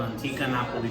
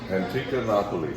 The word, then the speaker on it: Antica Napoli: It's called Antica Napoli Pizza. Antica Napoli.